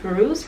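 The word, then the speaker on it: Fairuz: So I also wanted to talk about influences, and you mentioned Feiruz, right? That's how you pronounce it.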